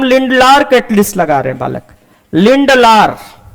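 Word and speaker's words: Lindlar: लगा रहे बालक लिंडलर कुछ लोग ड डी को बालक साइलेंट समझते हैं और पढ़ते हैं लिलार तो जैसा भी पढ़ोगे बालक मतलब वही रहेगा बस पढ़ने का अंदाज अपना अलग अलग हो सकता है तो लिंडलर कैटालिस्ट है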